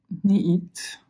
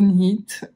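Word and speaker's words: knit: que j'avais acheté au niit pardon pour les anglophones euh parce qu'à chaque fois j'ai tendance à prononcer le cas et ça pique les oreilles de pas mal de monde au nit euh j'avais acheté à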